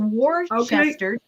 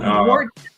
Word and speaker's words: Worcester: Yeah, the English put all these letters in and then don't pronounce any of them.